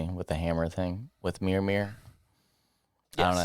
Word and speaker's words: Mjolnir: Because, get it, proves himself worthy with the hammer thing, with Mjolnir. Yes. I don't know how to say it. Mjolnir. Mjolnir.